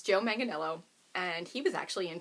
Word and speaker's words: Manganiello: say his last name it does not look like that spelled out but I google it it's joe manganiello and he was actually